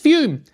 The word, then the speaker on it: FUM: We're talking about fume. It's spelled F U M and pronounced fume, which makes no sense.